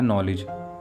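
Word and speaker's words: knowledge: Word है नॉलेज। यहाँ भी के साथ एन आ रहा है, इसलिए के साइलेंट होगा।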